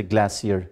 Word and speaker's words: glacier: word glacier as well usually people pronounce the word glacier that is wrong americans say glacier but since the main data lying here in our minds belonged to british english so we should say glassier just like calcium not